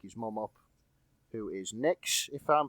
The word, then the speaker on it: Nyx: want to wake his mum up, who is Nyx, if I'm pronouncing that right. Yeah, Nyx is correct.